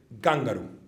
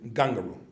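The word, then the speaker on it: kangaroo: By the way, as a general rule, if you want to stress on the first syllable. So if somebody tells you this is an animal, it's written Kangar, so you should say Gangaru. And that's the pronunciation, Gangaru. It's always on the front.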